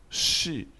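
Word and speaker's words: 是: dans la langue chinoise l'initiale s h se lit comme dans le mot chat en français la finale qui se lit comme le i français nous allons donc shi le deuxième mode aujourd'hui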